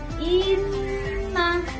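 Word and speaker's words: إنَّ: Jadi kalau ketemu huruf nun atau mim yang bertasydid, itu harus ditekan. Inna, jangan inna, bukan. Yang benar inna.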